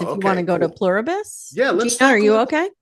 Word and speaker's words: Pluribus: brings it up, and I'm like, Pluberus, and I'm yelling at it. It's not giving me anything. And my husband's like, I think you're saying it wrong. Nice. Pluribus.